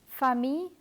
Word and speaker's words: famille: This is always pronounced as the letter Y in the words year and your. Let me give you examples of words that are written with double L. Famille, coquillage, billet.